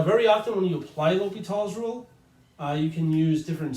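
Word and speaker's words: L'Hôpital: the s are silent so a non French speaker would say l'hopital's rule to try to do that French accent justice otherwise if you say L hospitals rule mmm that's not how you would pronounce his name he be offended but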